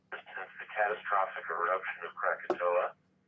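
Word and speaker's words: Krakatoa: we mark 104 since the catastrophic eruption of Crakatoa. Cracktow is the way it's pronounced. We generations of English speakers call it Crackatoa.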